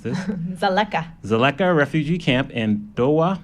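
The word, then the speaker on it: Dzaleka: water points were just completed at yeah Toby pronounced this Sulekha Sulekha refugee camp in Doha Malawi home to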